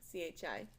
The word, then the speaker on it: chi: Well, and you say it like this, but it's spelled C-H-I, but it sounds like chi.